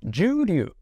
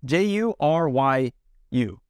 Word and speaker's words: Juryu: Now this one might be a little difficult for a few people to pronounce. Juryu. J-U-Y-R, oh no, J-U-R-Y-U.